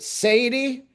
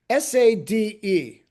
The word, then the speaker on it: Sade: was like is it Sadi? Is it uh you know sad? Is it sad? S A D E. Everybody said it different.